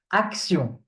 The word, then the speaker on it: action: This one, T-I-O-N. Okay? It's pronounced sion. Okay? Sion. For example, nation. Nation. Nation. Or action. Action. Okay? Nation. Action. Action. So T-I-O-N is always sion. At the end, when you find it at the end, it's always sion.